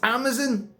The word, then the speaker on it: Amazon: And you end up having literally a 2 to 3 minute argument over how to pronounce Amazon. It's Amazon. You don't talk about the Amazon jungle, the Amazon River. It's Amazon.